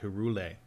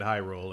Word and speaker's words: Hyrule: I knew a kid in in grade school who called it Herule. Oh, really? And we're like, that's definitely not how you pronounce that.